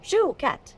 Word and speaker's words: Chouquette: Shuket. Shoe. Like you wear on your foot. Shoe. Shoe cat. Shoe cat.